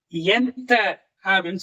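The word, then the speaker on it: ఎంత: எவ்வளவு, எந்த, இது எப்படி உச்சரிக்கணும்? எந்த அப்படின்னு சொல்லி உச்சரிக்கணும். சரிப்பா, சென்னையில இருந்து ஹைதராபாத் வரைக்கும் டிக்கெட் எவ்வளவு?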